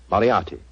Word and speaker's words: Moriarty: I'm afraid I'll have to begin calling it the way it looks. M-O-R-I-A-R-T-Y. Moriarty.